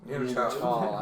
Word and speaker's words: Neanderthal: Neanderthal, as it's actually Neanderthal, correctly short.